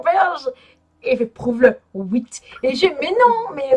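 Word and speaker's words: huit: Oh 8. Mais là ça se prononce comme un oui, mais avec un T.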